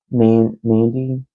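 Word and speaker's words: Nandi: It's N A N D I. And I'm thinking it's Nandandy. Nandy. It's African.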